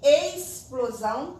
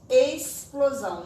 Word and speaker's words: explosão: s aí tem aqui ex plosão é escrita com x mas quando eu vou pronunciar como se lugar dos se estivesse explosão não é ex plosão tá é que explosão próximo não é próximo